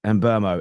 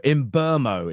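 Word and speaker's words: Mbeumo: Mbuemo himself pronounces it Mbuemo. Mbuemo is how he says it.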